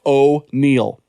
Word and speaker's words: O'Neill: ram check how does this affect extending o'neill pronounced oh neil hugs and kisses and we already